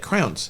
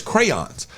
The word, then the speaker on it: crayons: She made it a one-syllable word. Yeah, and I said, "That's not how you say it. That's not the word is crayons, like Crayola, crayons."